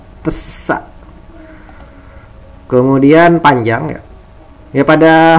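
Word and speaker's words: ث: Nah, ini huruf sa ya, huruf sa. Ini dibacanya TS ya, tesa.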